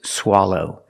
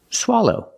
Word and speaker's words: swallow: and this word is swallow it's a verb it's an action it means to do this that is to swallow pronunciation use the short ah sound like stop and hot SWA for the first